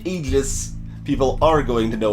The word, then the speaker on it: Aegis: people pronounce that word that's not the technically correct pronunciation of the word but if you say egis people aren't going to know what the hell you're talking about about most of the time whereas if you say agis people are going to